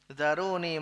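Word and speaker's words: ذروني: nabi bersabda zaroni nah kembali ke atas cara bacanya zaroni mata Hai cukum al-haditsah zaroni Tinggalkanlah aku aku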